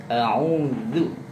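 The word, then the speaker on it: أَعُوذُ: a'udzu. Jadi makhraj dal letaknya di lidah, di ujung, agak mundur sedikit, dia digigit. Zu, zu, zu, zu, zu, zu. Dia sejajar dengan fa dan sejajar dengan do.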